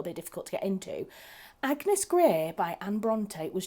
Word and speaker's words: Agnes: or in previous history, Agnes wasn't pronounced Agnes, it was pronounced Agnes, and that's how they pronounced it, Agnes, and then shortened, she would be Anne.